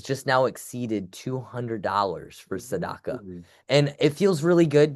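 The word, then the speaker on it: tzedakah: Now the last key point that I want to talk about here um is Saddaka.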